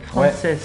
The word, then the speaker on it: Francès: Donc tu t'appelles Gabriel Frances. Ouais, c'est ça. C'est comme ça qu'on prononce ton nom.